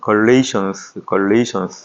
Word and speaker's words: Galatians: 영어로 볼 때는 Galatians 이렇게 발음을 하고요.